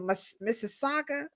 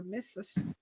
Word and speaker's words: Mississauga: Is it Mississauga or Mississauga? You got this. That's close enough. Mississauga.